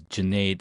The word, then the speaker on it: Junaid: My name, again, is Junaid. Like lemonade, or Junaid like lemonade, I like to say.